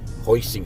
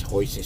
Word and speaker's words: hoisin: my hoi main sauce hoisting sauce I keep mispronouncing it hoisin sauce I bought a good tablespoon of it yeah I keep saying hoy mean because that was one